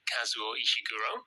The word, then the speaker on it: Kazuo Ishiguro: also reading a novel called the unconsoled by kazuo ishiguro oh that's great well pronounced thank you and are you reading anything